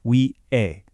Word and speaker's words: 위해: When you say 위해, that H sound is often super soft, so a lot of the time it just sounds like Wi-hae.